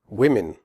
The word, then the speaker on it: women: do not say answer women the O in women has a different sound than the O in the singular form woman in women the O is pronounced e as in the word win the e in women